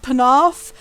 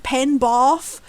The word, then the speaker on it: Penarth: near where I am, they mispronounce the name of like region of Wales called Penarth. Every single time they pronounce it Penbarth, which is not a place in Wales ever.